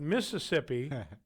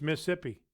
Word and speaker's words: Mississippi: It's not Mississippi. It's Mississippi. That's right. Like you just drop out that second syllable.